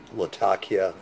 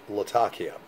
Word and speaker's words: Latakia: know that have uh latakia in it some people call it latakia but supposedly it's pronounced latakia yeah and so i